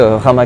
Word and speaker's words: Rama: vous respecter cette règle c'est pour ça que le dieu rama qu'on trouve en inde va plutôt se prononcer et ram en inde mais c'est aussi le cas en thaïlande et c'est pour ça